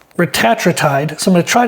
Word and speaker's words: retatrutide: I believe the proper pronun uh pronunciation there you go is retatride.